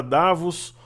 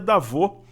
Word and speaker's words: Davos: o correto é muito a gente falar davos ou da você é na verdade era da vô a pronúncia correta o brasil foi muito